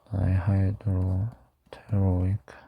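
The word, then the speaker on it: dihydropteroic: 인간이랑 뭐 엄청나게 큰 차이가 있는 건 아닌데 뭐 일단 대충만 설명하면 파바라는 놈부터 시작해가지고 다이하이드로테로익 여기 P는 묵음인 경우가 많은 거 알고 계시죠?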